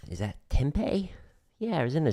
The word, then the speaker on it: Tempe: And it's not spelled like Tempe, like the city in Arizona. It's P-I instead of P-E.